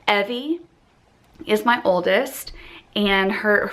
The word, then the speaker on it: Evy: Evie is my oldest, and her full name is Evie Kate, and we spell it E-V-Y. So I like to tell people it's like Chevy. It rhymes with Chevy.